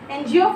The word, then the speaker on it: NGO: Miss Kim has been working with an NGO. Before NGO, why we are using an? It is starting with N because the pronunciation is coming of N, E-N, an NGO, okay, with an NGO for nearly 20 years.